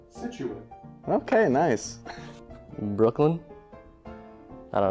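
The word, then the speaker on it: Scituate: It is pronounced Situate.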